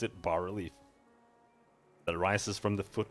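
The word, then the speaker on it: bas-relief: to destroy the water leaf that's how you pronounce it bar relief that rises from the foot of this pillar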